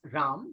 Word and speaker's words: Ram: ramnad you can simply address me as RAM that's r a m very simple to pronounce and even more easy to remember and